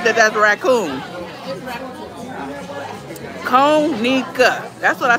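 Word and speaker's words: Conecuh: Konica.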